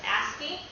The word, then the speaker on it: ASCII: And this acronym ASCII, we pronounce that as ASCII.